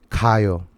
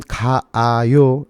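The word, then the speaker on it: 가요: Pero nadie habla así en la vida real. Todos dicen kayo, kayo, ¿sí?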